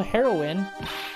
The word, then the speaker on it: heroine: you'd make an incredible heroine really you think so Nick did you hear that me a heroine what about Nick Regina but isn't it pronounced heroin like the drug is the same right